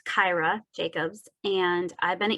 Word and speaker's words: Kira: six New England states and it's hard to pronounce my name so I'll say it again it's Kyra Jacobs and I've been at EPA for 25